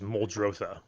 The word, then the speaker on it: Muldrotha: i pronouncing that right rob told me that you can pronounce it any way you want you can pronounce it any way you want but i think the real terminology is moldrosa moldrother moldrosa yeah and